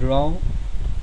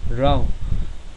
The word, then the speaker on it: rau: The next consonant is R. r, r as in run. Example is rau, rau, which means vegetable.